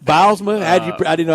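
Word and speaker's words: Bylsma: Bilsma. Bilsma? I didn't know how you pronounce Bilsma, yeah.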